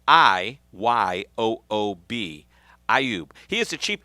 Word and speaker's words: Iyoob: Very excited today because we are going to be hanging out with a guy named Jim Iyoob, and that is spelled I-Y-O-O-B.